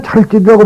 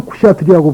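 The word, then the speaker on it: क्षत्रिय: 그러니까 우리는 찰제리라고 발음하지만은 인도 사람들은 쿠샤트리라고 발음한다.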